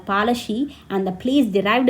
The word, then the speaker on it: Palashi: Plassey is an Anglish pronunciation of Palashi, and the place derived